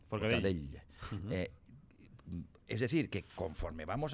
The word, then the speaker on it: Forcadell: Y eso se une a lo que acabamos de ver y de contemplar con Carmen Forcadell. Espero haberlo pronunciado bien. Sí, bastante bien. Forcadell.